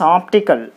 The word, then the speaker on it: optical: So you put the stress mark on op. Optical.